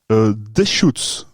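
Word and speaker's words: Deschutes: nom de la brasserie et donc ça se prononce des shots DA alors il mett un tir s h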